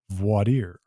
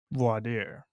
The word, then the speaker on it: voir dire: Well, look, the pronunciation is all about where you're from.